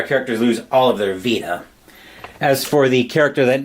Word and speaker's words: Vita: I think it's pronounced the same way as the PlayStation VA. the handheld from back the Sony handheld back from like 2009 to 2011 era.